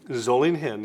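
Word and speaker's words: Solingen: a piece of Steel and a sword and zolling him zoling him yes that is the correct pronunciation um the city in Germany is is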